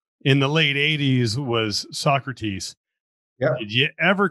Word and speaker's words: Socrates: floor they did they they didn't know how to pronounce it um so crates but i always call them we just call i just call them sock you know okay or